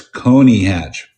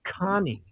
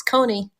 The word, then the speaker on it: Coney Hatch: connie hatch at 31 with connie hatch cody what's that it's coney hatch eddie trunk has always pronounced it connie well what the hell does he know he's